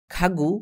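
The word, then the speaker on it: 가구: যদি কোন বাক্যের প্রথমে বা শব্দের প্রথমে গীয়ক বসে এর উচ্চারণ গ না হয়ে খ এর মত হয়। যদি মাঝখানে বসে তাহলে গ এর মত উচ্চারণ হয়। এবং নিচে বসলে এর উচ্চারণ হয় ক এর মত।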